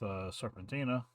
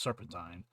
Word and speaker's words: Serpentine: Mayu and door with serpentina I think name is serpentina I could be saying it wrong Serpentine serpentina it's Serpentine Julie T Wallace who's the